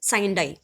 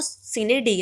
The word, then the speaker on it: Sine die: कैसे प्रोनाउंस करते थे, बोलते थे साइन डाई, but that is नॉट एक प्रोनाउंसिएशन. साइन डाई नहीं होता, वो सीने डी है, which means without a date और विदाउट अ डे.